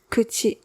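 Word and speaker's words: 口: Much like how it's still used in modern Japanese today, pronounced kuchi.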